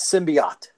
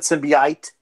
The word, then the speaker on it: symbiont: to begin with just it's symbiont well that's the problem with comic book fans we read all these words we don't necessarily hear anybody pronouncing them you know wasn't that what I said Simbi it no you said civvy it-- oh well alright